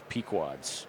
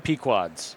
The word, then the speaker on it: Pequod's: The best pizza joint in Chicago is Pequod's in Morton Grove. Okay, I watched Dave Portnoy do all the pizza reviews, but Yep. You're saying it's which one? Pequod's.